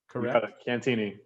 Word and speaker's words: Cantieni: with the sierra seattle mariners strength coach cantini now first of all did i pronounce that last name cantini yup that's a whoo all right all right